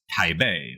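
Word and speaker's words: Taipei: very unus usual place Tai Bay which is not in fact by the way pronounced Tai that's an artifact of an older system of romanizing Chinese anyway Tai Bay is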